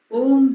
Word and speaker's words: ओम: ओम के उच्चारण में खास बात यह है कि ओ बोलने पर मुंह खुलता है, मगर जब हम म बोलते हैं तब मुंह बंद होने के कारण ओम की ध्वनि सूक्ष्म होते होते हृदय और नाभि